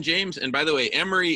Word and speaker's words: Imre: And by the way, Emery, it's actually pronounced Emery. IMRE.